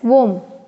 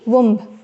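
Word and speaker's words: womb: कोख कहते हैं, मदर्स वोम, ठीक है ना, you should pronounce it एज वोम, न कि वुम्ब।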